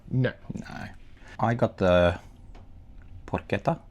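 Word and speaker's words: porchetta: I got the Porquetta. Is that pronounced right? Is this going to be a Caribbean Caribbean? No. Porqueta is correct.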